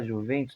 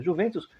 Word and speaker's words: Juventus: Pronuncia-se com I. A letra J não existe na gramática italiana, é uma letra do piemonte, da língua piemontesa.